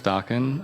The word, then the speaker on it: Daken: My name's Dawkin.